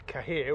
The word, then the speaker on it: Cahir: Near Cahir, or I think they pronounce it Care, County Tipperary.